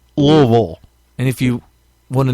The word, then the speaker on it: Louisville: It looks like Louisville, but it is pronounced Louisville.